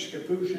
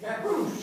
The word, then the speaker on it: Scappoose: I guess it's Scappoose, is it, Jay? Scappoose.